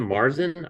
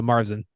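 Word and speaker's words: Märzen: hearty and smooth it is a they said Marsen did I said that right yeah yep that's right all right so which kind of gives a carel i mer mer we're American so Marsen we pronounce guys say on that side of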